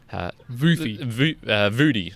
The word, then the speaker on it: Vuthi: Okay. Vudi. It's like Vudi. Yeah, it's spelled like absolutely nowhere near the way I thought it would be.